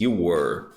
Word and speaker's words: were: questão da versatilidade e eu vou usar voz War muita atenção a pronúncia tá bom não confunda or w e